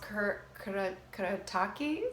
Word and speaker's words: Kuretake: They're from Japan, and I think it's pronounced Kuretake.